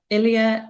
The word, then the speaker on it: Ilya: And today we have Ilya. Am I pronouncing that correctly?